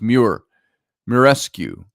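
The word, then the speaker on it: Muraresku: Murar, M-U-R-A-R. I think that's pronounced Murescu.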